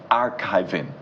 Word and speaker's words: Archivi.ng: Fuad Lawal is Executive Director, Archivi.ng. You have to get that right, even though it's Archivi.ng, but it's archiving when you pronounce it in full.